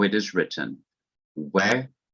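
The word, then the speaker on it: וְ: dot over the other, and pronounced we, or some Hebrews pronounce it ve.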